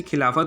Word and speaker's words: खिलाफत: जो टर्की के जो किंग थे कलीफत, उनको हिंदी में ऐसे खिलाफत उनका प्रोनाउंसिएशन होता है, खिलाफत।